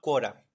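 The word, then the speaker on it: Quora: a usar una página web que se llama cuora cua se escribe q u o r a esta página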